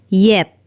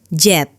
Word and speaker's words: yet: In fact, yet sounds like yet, not jet.